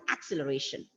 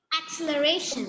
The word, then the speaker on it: acceleration: So what is the exact way of pronouncing it? Acceleration. Acceleration. And children, like stressing on the syllable has got a lot to do with the accent, because see, if you are stressing on the first acceleration, acceleration, acceleration, see, when the stressing on the syllables are shifted, it sounds different.